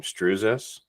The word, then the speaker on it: Stroozas: Strus.